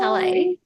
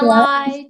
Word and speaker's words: Talei: So Oh, Tale, yeah. When you see it written on paper, it's spelled Talei, but I've had that really throws up some interesting pronunciations. So I've had yeah. Talai, Tully, Tailai.